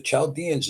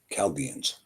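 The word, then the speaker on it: Chaldeans: But the Chaldanss is a misprononunciation because the ch is pronounced with a ca chalians. Calaldians.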